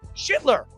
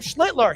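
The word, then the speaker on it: Schlittler: HE CALLED HIM SCHITLER. He didn't even call him Schlitler.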